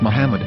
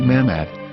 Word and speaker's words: Muhammad: after the H according to Ben yehuda's Hebrew English dictionary it is correctly pronounced as Muhammad not mammad so how we're going